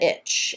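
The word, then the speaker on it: ITCZ: the tropical rain belt, or the itch, as they pronounce it.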